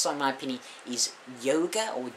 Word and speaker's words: Jóga: But the best song, in my opinion, is Jóga, or Jóga. It's spelled J-O-G-A, but the O has an accent.